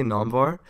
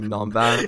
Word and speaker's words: Namvar: Okay, so basically, the way I would say my name is I would say Namvar, but obviously like the way you would pronounce it, like back in Iran, Persian heritage would be Namvar probably.